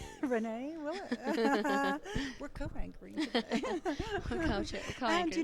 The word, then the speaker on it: Willett: Willett.